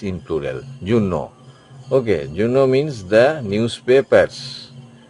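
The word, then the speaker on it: journaux: it will be a u x in plural Juno Okay Juno means the newspapers these are also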